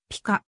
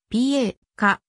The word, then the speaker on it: pika: するまた英名のピカはツングース後のピーカに由来するため本来はピカと読むのが正しいがそのスペリングから Pa かと読まれることが多い日本には北海道